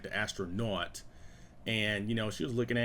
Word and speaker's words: Astra.Not: how it's spelt, because originally it was going to be Astra.Not, like naughty boy, I didn't want to just have it be like regular astronaut, like Astra.Not.